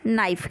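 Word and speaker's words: naive: बहुत लोग इसको नेव बोलते हैं, बट ये गलत प्रोनाउंसिएशन है। सही प्रोनाउंसिएशन क्या है, नाइफ।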